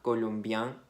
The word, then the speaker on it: colombienne: Entonces hay que decir colombien, colombienne.